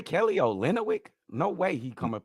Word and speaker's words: Olynyk: just say Kelly Olynyk? No way he come and play on my No. team. Olynyk, bro, you add a whole extra.